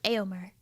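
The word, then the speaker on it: Éomer: that or is it aomar Carl of Rohan I think his name got said like maybe twice okay so I said it right the first time ayomer like eowin I feel like I'm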